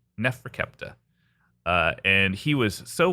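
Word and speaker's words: Neferkaptah: scribe and magician and the name of this uh kid was uh nephra kepa and that is spelled for those keeping score at home this is uh NE F re ke p t a h Nefra kepta uh and he was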